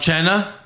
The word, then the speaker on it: Cena: mma guy uh chris deburne push fireberry wrestlers mispronouncing names uh we have centino with uh john cena did he say john china what was it john chaina john china william